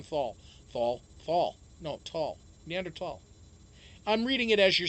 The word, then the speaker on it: Neanderthal: It's Neanderthal. Even though the H is there, you're not supposed to pronounce the H.